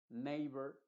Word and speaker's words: neighbor: te voy a mencionar En estos casos la e en inglés estoy hablando se va a pronunciar como el sonido de la a original que es precisamente e